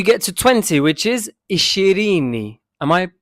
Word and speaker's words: ishirini: Until you get to 20, which is ishirini. Am I pronouncing that correctly?